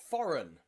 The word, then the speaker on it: foreign: The G in there is silent because it comes before the letter N. So G and N, the G is nearly always silent, okay? Design, resign, and foreign.